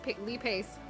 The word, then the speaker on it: Lee Pace: Pace okay you know this internet man says Lee Lee Pace and it says correctly so who do I believe how to pronounce yeah I'm actually hello Lee Pace here he literally himself says Lee Pace youa what the [